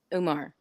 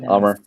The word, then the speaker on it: Amar: And Umar, I'm saying it wrong. Yeah, Amar. So bad.